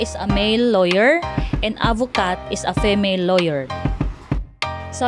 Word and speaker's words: avocate: However, adding an E to a final consonant necessitates pronouncing that final consonant sound, like the word avocat. Avocat means a male lawyer. Just add E to the final consonant to becomes avocat.